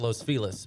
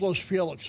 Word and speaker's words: Los Feliz: yeah Los Feliz uh they actually pronounce it Los felis but it's spelled like Los Feliz yeah I thought it was Los Felix like Felix the Cat